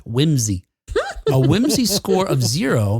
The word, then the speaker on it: WHMSI: Sally index or WHMSI, which they suggest is pronounced whimsy.